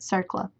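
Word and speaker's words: CERCLA: Compensation and Liability Act abbreviated CERLA, and pronounced CERLA.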